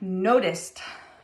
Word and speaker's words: noticed: What about noticed? Noticed. It's the T sound, noticed.